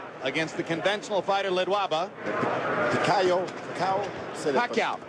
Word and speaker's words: Pacquiao: Pacquiao. Say Pacquiao.